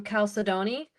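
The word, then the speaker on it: chalcedony: Well, some people say um calcedon, but I think it's calcedney. Calcedoni makes more sense with how it's spelled.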